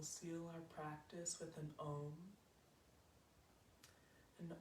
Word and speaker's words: om: our practice with an om and om is kind of spelled like a u n and we're making the sounds of those letters with our body and our voice taking it reach the